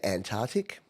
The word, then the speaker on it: Antarctic: over a rant here the amount of people I hear say Antarctic I know it doesn't matter and I know language evolves I know pronunciation isn't the most important thing but there's clearly a SC in there people Antarctic Arctic I don't know but